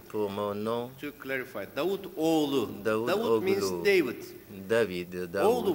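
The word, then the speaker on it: Davutoğlu: Since he had difficulty for my name, my last name, pour mon nom, to clarify, Davutoglu.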